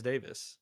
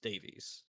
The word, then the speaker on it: Davies: Vinci and it was played by John Rice Davis. Davies.